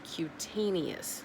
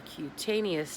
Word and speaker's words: cutaneous: It starts with a C, and I believe the proper way to pronounce it is cutaneous lupus.